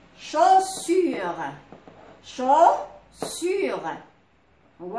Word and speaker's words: chaussure: AU كنطقوها O. AU O. Par exemple, chaussure.